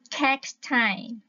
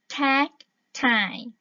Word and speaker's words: cacti: Cái danh từ số nhiều các bạn ha, phát âm là cacti, cacti, cacti các bạn ha, không có cacti, không